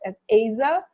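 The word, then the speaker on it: עזר: hebrew we understand that the word helper is a hebrew word which is pronounced as aza the word asa means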